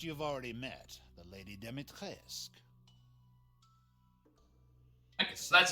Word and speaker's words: Dimitrescu: The first you've already met, the Lady Dimitrescu. Okay, so that's how they Lives pronounce it, deep in a Dimitrescu.